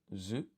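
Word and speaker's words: づ: And then this is written as I think this is actually written as du, but it's pronounced as zu.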